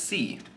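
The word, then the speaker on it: sí: you know yes is C it's weird too because it's just it's just the letter c which people would think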